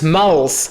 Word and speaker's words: mals: Alors là, vous allez me dire pourquoi tu prononces mals. Parce qu'en gros, à cette époque, le L commence à se vélariser. C'est quoi le L vélaire? Le L vélaire, c'est quelque chose qui existe toujours en polonais, par exemple.